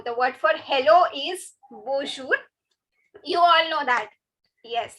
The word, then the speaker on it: bonjour: attention to the pronunciation now the word for hello is now as you can see this n i'm not stressing on this n because it has a nasal